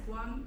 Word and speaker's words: Nguyen: So how do you pronounce this one? Yes, one. One? Sounds like number one. Okay, good.